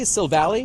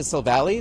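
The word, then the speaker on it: Silvally: Silvali is how you say Sil Valley.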